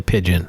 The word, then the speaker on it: pidgin: 000 residents speak hawaiian pidgin i don't know if i'm saying that right but it's spelled p-i-d-g-i-n i always heard the hawaiian kids say pigeon okay good i'm i'm at least saying it correctly although english and hawaiian